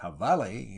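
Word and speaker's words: jabalí: The jabale, pronounced javale in the Mexican version of the Spanish language, is the wild hog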